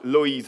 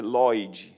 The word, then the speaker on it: Loïs: prononcer le nom de Loïs. Alors, tous les voyelles, toutes les choses sont prononcées dans ces mots-là. En portugais, c'est Loïd, avec un D à la fin.